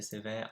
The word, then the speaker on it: sévère: Mon prof est sévère, my teacher is strict. Sévère, make sure that you got the accents the right way, so going up and then down.